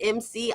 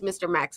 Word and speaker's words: Mr Max: he always first off I always say it wrong it's Mr Max Market but BEC here's the thing in my mind because it's capitalized MC I call it MC but it's Mr Max Market okay but it's